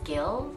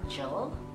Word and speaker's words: Gill: You pronounce my surname with a hard G. It's Gill, not Jill.